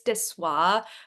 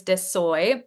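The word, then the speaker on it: De Soi: I actually picked up, I don't know how to pronounce the name of this brand, but I think it's Dessoy, but somebody told me it was Dessoy. It's DE_SOI.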